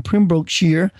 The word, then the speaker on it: Pembrokeshire: sole owner of Pembrokeshire, I got to say it correctly, not Shire, Shire, Beyond in January 2015, born in 1975, Mr. Davies lives in Pembrokeshire, West Wales.